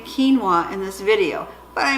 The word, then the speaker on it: quinoa: be honest with you when I first saw quinoa I pronounced it Manoa and in my mind when I see it it's still Kanoa so I will try to say quinoa in this video but